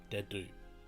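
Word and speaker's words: Dedue: This here is Dedu. He serves Prince Dimitri. It's a difficult name when you look at it, but it's just Dedu. Easy, right?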